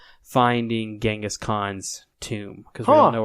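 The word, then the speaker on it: Genghis Khan: Um, which apparently it's pronounced Changaskhan. I didn't in Mongolia. They're convinced we've we've mistransated the G and it should be a C.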